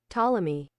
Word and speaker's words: Ptolemy: Ptolemy. Ptolemy. Okay, the P is silent. He's like a pterodactyl.